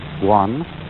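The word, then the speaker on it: 觀: Chinese character which I drew at the beginning, pronounced guan, or quiet observation.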